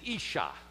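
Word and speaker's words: אִשָּׁה: word for woman is isha ish is the first syllable and shah is the second syllable the sh is a single letter in the hebrew and it's doubled isha i want you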